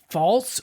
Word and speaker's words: Pfalz: Pfalz, which is spelled Pfalz, is next, and it's one of the warmest and driest regions.